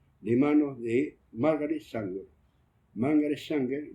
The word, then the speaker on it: Margaret Sanger: Margaret Sanger, lo pronuncio en inglés.